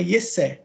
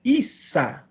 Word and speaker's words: Isa: vai colocar ali I Então é ié né ié mas não é O correto é Isa Isa tá Issa porque